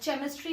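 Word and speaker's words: chemistry: जैसे सी एच ई एम आई एस टी आर वाई, केमिस्ट्री नहीं, आप केमिस्ट्री बोलते हो ना, तो क साउंड आएगा, क के साथ छोटा सा ह, ख, क, ठीक है।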